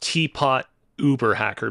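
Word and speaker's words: TeaPotUberHacker: I think it's supposed to be pronounced Teapot Uber Hacker because prior to this hack, he hacked Uber.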